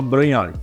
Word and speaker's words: Brognoli: imobiliária chamada Imobiliária Brognoli, chama-se Imobiliária Brognoli, se escreve, mas se chama Brognoli.